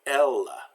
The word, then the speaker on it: Elles: So Elles. So the first E is pronounced eh, and the second one is silent because it's at the end of the word.